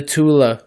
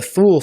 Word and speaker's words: Thule: I pronounce it as Thule, but mind you, it's a German society, so inflection is different.